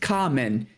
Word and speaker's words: Kamen: In fact, in one of mine, I mispronounced the name. I said Cayman Riders, and everyone's like, it's pronounced Kamen.